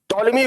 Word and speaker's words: Ptolemy: by call me here p is silent ptolemy wrote geography told me